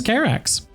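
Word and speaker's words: Karax: uh as you said his name is carex oh like cataracts yeah like cataracts e or or k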